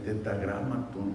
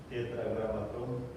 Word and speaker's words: Tetragramatón: Están las 4 letras, el tetragramatón, ¿cómo le llaman? Hermano Hugo, ¿cómo se dice? Tetragramatón. Díganlo otra vez. Tetragramatón.